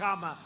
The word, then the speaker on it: Kamala: had kamala you know if you pronounce her name wrong she goes crazy come on like a comma it's like a comma